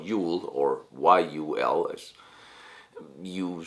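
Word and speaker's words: jul: And the tradition of Christmas, or Yule, and in Denmark you'll still write and pronounce it J-U-L, Yule, or Y-U-L, as you say the Vikings have said it.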